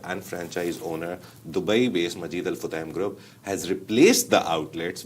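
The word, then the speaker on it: Majid Al Futtaim: Majid alutam or it is Majid the proper pronunciation is Majid al Futam but since I've yeah my name is Majid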